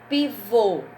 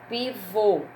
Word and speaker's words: pivô: Pivô, olha o som. Pivô, som fechado, é o acentinho, o chapeuzinho do vovô no O.